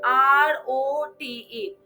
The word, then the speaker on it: wrote: We write the spellings at WROTE, but we pronounce as ROTE.